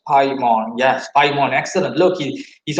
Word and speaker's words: Paimon: How's it pronounced? Paimon.